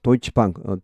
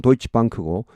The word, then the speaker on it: Deutsche Bank: Deutsche Bank, 독일 발음은 Deutsche Bank고 영어 발음은 Deutsche Bank가 되겠습니다.